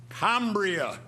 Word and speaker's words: Cambria: was the obvious choice Cambria being a Latin word could only have been correctly pronounced kria however not many citizens